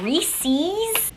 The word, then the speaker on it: Reese's: If you change this word to Reese's, no, it just has an S on the end. Reese's. Do you know anyone whose name is spelled like this and you call them Reese? You wouldn't just be like, oh, me and Reese.